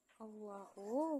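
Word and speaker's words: الله: Allahu, hukum tajwidnya adalah tafkhim karena lafaz Allah diawali harakat fathah, dibaca tebal.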